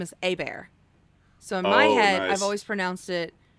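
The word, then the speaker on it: Hobert: We have a family friend who's always said their name is A-Bear. So in my head, nice. I've always pronounced it A-B-E-A, you know, Yeah.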